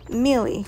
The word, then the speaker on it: Miele: Miele, really, is how you say it.